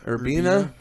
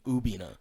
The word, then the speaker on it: Urbina: it your your bina urbina versus weren't even pronouncing the r when they were saying his name they were almost just saying ubina yeah that's what it sounded like and we were supposed